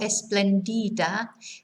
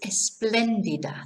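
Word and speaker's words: espléndida: a good afternoon so notice where the accent is on the second e so it's not esplandida it's esplendida so fuel esplendida okay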